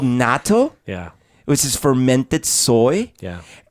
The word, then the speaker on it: natto: natto is, and real Japanese people will pronounce natto a little differently, but Americanized say natto.